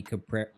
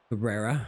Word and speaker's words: Cabrera: Milky Cabrera himself. The Toronto Blue Jays legend. Mey Cabra Cabrera.